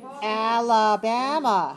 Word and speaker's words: Alabama: Alabama. How many syllables? 4 syllables. Where's the stress? On 3.